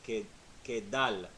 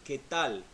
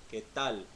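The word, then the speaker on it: qué tal: D as in David i would say kay kay doll ok doll which I'm not saying I'm saying que tal que tal so there's a subtle difference there so it takes some practice so khatauli it's like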